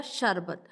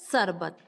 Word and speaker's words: शरबत: जैसा कि हमने अभी एग्जाम्पल लिया था शरबत, लेकिन बहुत से लोग शा को सा बोलने के कारण उसका उच्चारण क्या करते हैं, सरबत।